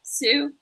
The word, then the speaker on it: Tsu: I had heard anyone mention Sue is that how you say it sue yeah Sue I had heard that mentioned